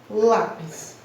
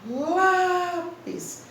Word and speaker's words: lápis: Na palavra lápis, ao abrir a boca e pronunciar lápis, a força maior se encontra na sílaba lá.